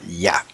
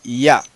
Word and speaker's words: Yah: La forma original era Yah. Bueno, en Éxodo 15:3, vamos ahora a la séptima evidencia. La séptima evidencia es el testimonio de la apócope del nombre Yah.